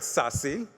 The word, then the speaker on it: SASE: Gardner published a paper titled sassy that's how you pronounce this SASE secure access services edge